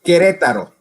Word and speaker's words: Querétaro: Querétaro. How do you pronounce that? It's Querétaro. Oh, Querétaro.